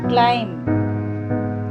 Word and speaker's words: climb: Number 3, climb, B is the silent letter.